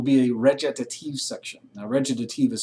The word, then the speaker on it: recitative: Now, recitative is spelled R-C-I-T, et cetera, et cetera, but it's pronounced recitative, is how that's pronounced.